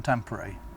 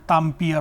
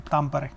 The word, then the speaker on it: Tampere: Earlier I was not sure how to pronounce the name, Tampere or something, but then after coming